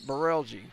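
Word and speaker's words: Brelje: hard to pronounce name it's spelled b-r-e-l-j-e we're calling it barelgi there's a Passover the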